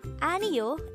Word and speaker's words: 아니요: here at the Hangul word number 39 Aminu a neo is the formal and polite way of saying